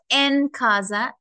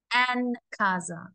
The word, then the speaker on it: Ancasa: So this is Ancasa. Not Encasa, Ancasa.